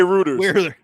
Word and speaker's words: Reuters: number three reuters r-e-u-t-e-r-s you said it right writers some people say reuters were your plumbers and your news source the proper pronunciation is uh reuters is a well-respected unbiased